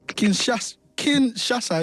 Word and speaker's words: Kinshasa: So Kinshasa, is it?